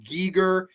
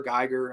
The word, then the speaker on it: Giger: And of course, I think it's pronounced Giger, but I always just said H.R. Geiger.